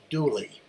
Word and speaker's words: Dula: The story of Tom Dula, pronounced Dooley, is a love story